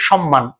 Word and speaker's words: সম্মান: মত উচ্চারণ হয় কিন্তু আমরা যদি বলি সম্মান তখন এস এইচ এর মত উচ্চারণ হচ্ছে আমরা কিন্তু সবাই সম্মানই